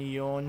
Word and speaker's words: yon: Shi and yon for 4. She sounds a little bit too much like death, so sometimes yon is used.